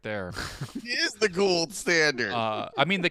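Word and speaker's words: Gould: for forever yeah forever we thought that Robbie Gold's name in Chicago was Robbie ghou he allowed for coaches members of the media and fans to call him Robbie ghoul for two years yeah before he was like my name is actually gold it's just has a you in the middle right right right right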